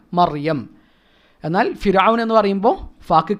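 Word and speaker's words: مريم: ഇപ്പോൾ മറിയം അല്ലേ, മറിയം റാക്ക് സുക്കൂനാണ്, തൊട്ട് മുമ്പ് ഫത്ഹയാണ്. അപ്പോൾ അവിടെ മരിയം എന്നല്ല പറയേണ്ടത്, മർ തഫ്ഹീമാണ്, മറിയം.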